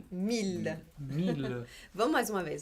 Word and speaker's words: mille: Mas na outra palavra ali, ele não tem som de I, né? Não. É mille. Mille. Significa mil. Mille. Vamos de novo, então? Mesmo. Travailler. Vocês Travailler. E? Mille.